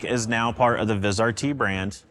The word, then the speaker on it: Vizrt: best for last I've got Jeremy Morris from vizrt in to tell everybody how to pronounce vizr t did I do it right